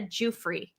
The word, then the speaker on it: Giuffre: Oh, is that how to pronounce it? Okay, Virginia Giuffre. Thank you so much for letting me pronounce it the correct way.